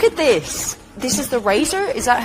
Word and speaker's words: RACER: We say RACER. It's an acronym that stands for Rice Advanced Engineering Systems and Research, so you can say it however you want.